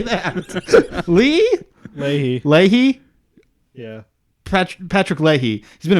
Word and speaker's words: Leahy: Leahy.